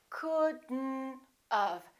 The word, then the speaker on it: couldn't have: When we have not, we don't say could not have. Look at this. We pronounce the D and then we connect the D next to the N and then the O disappears, but the T also disappears. Watch this. We say couldn't and then we add this element. We do it like this. Couldn't have. Couldn't have. Don't pronounce the O. Don't pronounce the T.